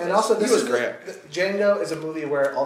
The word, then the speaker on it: Django: Django is a movie where all the cameos work for me. I never get distracted. I mean, The Franco Nero cameo was DJANGO. So The D is silent.